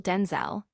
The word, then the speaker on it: Denzel: So she said, "From now on, you're Denzel Denzel," he recalled, emphasizing the distinct vowel sound that differentiated him from his father, whose pronunciation was Denzel.